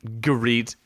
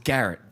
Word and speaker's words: Garrett: from the reach headland garite Garrett Garrett Pedro did you know garite great choice it's Garrett and lon Billy headland